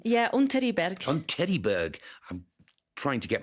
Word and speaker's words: Unteriberg: I hope that's the correct pronunciation. Yeah, Unteriberg.